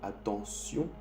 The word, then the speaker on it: attention: El T en francés, cuando está un T, I, O, N, se dice S. El T se dice S. Cuando hay I, O, N después del T.